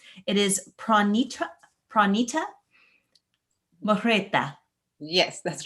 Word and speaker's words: Mehrotra: Today, we have a very special guest with us, and I hope that I pronounce her name correctly. It is Pronitra Mehrotra.